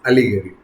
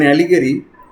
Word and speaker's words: allegory: Our first term is allegory. Notice how it's pronounced with the emphasis on the first syllable.